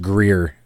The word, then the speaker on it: Greer: Let's get- This is by Gray Hair Guitars, and it is a 2-star review It's pronounced Greer.